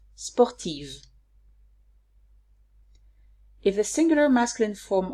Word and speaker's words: sportive: If the adjective of the masculine singular form ends with an if, I write Eve in the feminine form, and I pronounce Eve. For example, sportif, sportive.